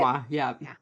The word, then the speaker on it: Malinois: Malinois? Is that how you say it? Malinois, yeah.